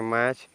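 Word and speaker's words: match: means पकड़ना ठीक है नेक्स्ट देखेंगे यानी टी साइलेंट हो जाएगा तो इसको पढ़ेंगे मैच मैच मींस मेल खाते हैं मैच मींस मेल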